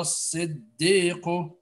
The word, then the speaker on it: الصديق: عبد السلام أيها الصديق not lam lam is silent it lam shamsiya ayyuha as-siddiq ayyuha as-siddiq aftina good